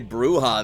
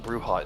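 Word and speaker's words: Brujah: So I believe that you are making a bruha then. Yes. Brilliant. Uh how do we spell that again?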